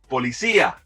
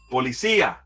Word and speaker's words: policía: For now, make sure you're stressing the right syllable here so you're better understood.